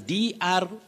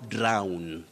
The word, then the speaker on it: drown: vowel glide oh then the word below is now drown to drown drown drown don't say drone when we are talking about d-r-o-w-n to drown in a river drone and drone a